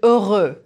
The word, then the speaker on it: heure: It's important to distinguish between the sound, de, and the more open sound of in the word heure. Start with girl in English again. You need to open your mouth more, keeping your lips rounded. Your tongue is more in the middle of your mouth than with de.